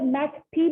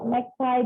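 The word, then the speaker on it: magpie: This is, हम इसको मैक्पी भी प्रोनाउंस कर सकते हैं एंड मैगपाई भी प्रोनाउंस कर सकते हैं. तो मैगपाई जरा ज्यादा डिसेंट लगता है, इसीलिए इट इज मैगपाई.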